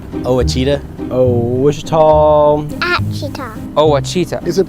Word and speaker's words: Ouachita: for wasita Baptist University back in Texas everybody pronounces it Witchita but really it's was was how would you pronounce it was it's was Baptist University get it right it's